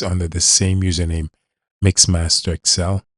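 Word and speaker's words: MaxmasterXL: under the same username, Mixmaster Excel. M A X M A S T E R XL spelled just like it pronounced once again.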